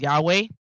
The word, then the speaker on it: Yahweh: The Elohim I serve is Yod He Wahe, and you will hear me pronounce that name as Yahweh.